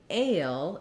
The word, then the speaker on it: fail: when we move to fail it has the diphthong "ay" which is a gliding vowel sound so some of